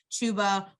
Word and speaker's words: Chuba: christine is referring to chuba rhymes with tuba hubbard um so he's